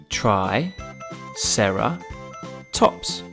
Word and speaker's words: triceratops: time for triceratops try sarah tops can you say it with me try sarah tops let's learn all